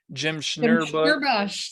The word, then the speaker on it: Schnurbusch: The other one, Jim Schnurbush.